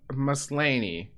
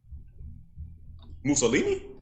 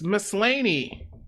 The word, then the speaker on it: Maslany: Tatiana Maslany. Mussolini?